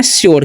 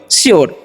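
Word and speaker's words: sure: क्यर उसी तरीके से एस य आर ई लिखा हु इसे हम लोग पढ़ते हैं शोर क्या पढ़ते हैं हम लोग श्यर ठीक है क्यर मतलब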